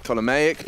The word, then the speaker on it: Ptolemaic: Well, let's say the P is silent. Ptolemaic dynasty that ruled until 30 BC.